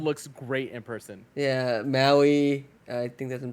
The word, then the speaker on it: Maui: but that one looks great in person yeah Maui I think I can pronouncing that right yes you are yes oh